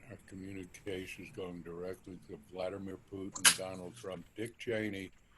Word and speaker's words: Vladimir: Or actually, as it's pronounced correctly, Vladimir.